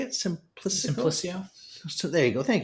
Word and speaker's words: Simplicio: And now Simplicico, is that how you say it? Simplicio.